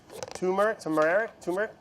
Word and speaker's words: turmeric: Turmeric. Hey, Sola, how do you say this? Turmeric. I pronounced the R. Turmeric. Yeah, I guess you should, huh? I thought there wasn't an R in it.